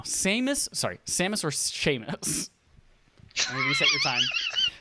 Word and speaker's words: Seamus: spell your name because it's spelled seamus you pronounce that sheamus dallas seamus hopefully yes